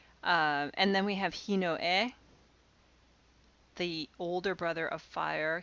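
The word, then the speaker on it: ひのえ: younger brother ototo uh and then we have hino e the older brother of fire hinoto the younger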